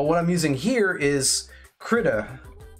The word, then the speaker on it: Krita: But what I'm using here is Krita. I believe that's the official way you pronounce it.